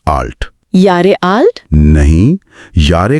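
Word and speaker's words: Jahre: इस बिन आपकी उम्र यारे आल्ट। यारे आल्ट? नहीं। यारे का उच्चारण या और आल्ट का आल्ट होता है।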